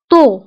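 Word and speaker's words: tôt: طو, طو مبكرا. فهنا أيضا طو كنكتبوها بالت في آخر الكلمة ولكن لا ننطقها. طو.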